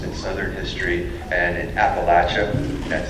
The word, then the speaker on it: Appalachia: is a specialist in southern history and in Appalachia that's how you pronounce it folks if you are if you live in Appalachia you say Appalachia we can always tell when there's an outsider